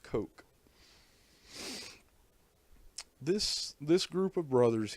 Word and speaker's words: Koch: or is it k-o-c-h it looks like koch but it's it's pronounced coke this this group of